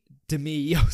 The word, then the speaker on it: Demi: I think Demi Moore could be Demi. That's how you pronounce her name.